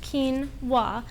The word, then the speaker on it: quinoa: spelled q u i n o a and pronounced kinwa is Rich with a high quality protein as